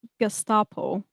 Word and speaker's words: Gestapo: Also Mina just for my personal survey how do you pronounce Gestapo? Okay. Gestapo in German is actually gestapo because it comes from the word which means secret state police.